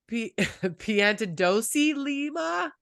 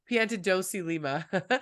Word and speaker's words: Piantadosi-Lima: Episode 30, and I gotta look at how to pronounce her last name. Piantadosi-Lima. Did I Perfect. butcher it? Piantadosi-Lima.